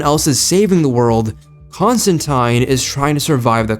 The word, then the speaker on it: Constantine: And what makes Constantine, or Constantine, I remembered, Constantine is a proper way to say it, I fact-checked, I know.